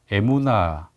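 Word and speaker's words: אמונה: 여기서 이 믿음이라는 말은 히브리어로 에무나 이렇게 발음하는데요.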